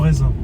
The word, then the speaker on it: raisin: We kalau tulisnya raisin, but bacanya reza.